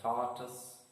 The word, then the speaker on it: tortoise: And the 10th word, tortoise. Again, the stress is on the first syllable.